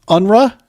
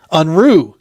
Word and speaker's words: Unruh: sir hey good afternoon guys so help me pronounce the last name unra is that right it's it's close I've been called uh many things uh the correct pronunciation is unre unru got it German for unruly but I'm I'm